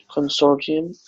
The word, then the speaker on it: consortium: Let's clarify the pronunciation of consortium. Consortium. But sometimes we say consortium because it's so common, so normal to say consortium. That's consortium actually.